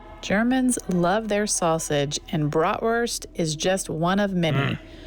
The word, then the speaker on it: Bratwurst: Yeah, bratwurst.